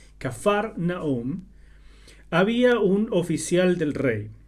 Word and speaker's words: Cafarnaúm: el agua en vino en cafarnaún o también capernaúm pero esta versión prefiere esta otra pronunciación que en realidad es más cercana al original cafarnaúm había un oficial del